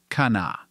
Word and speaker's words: Kanawha: Later, as more Americans and immigrants of various national backgrounds moved into the area, the first H sound in the name was dropped. Now it is just pronounced Kana.